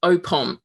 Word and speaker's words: OPOM: So it's OPOM, Our People, Our Music. Yeah, just as you see it.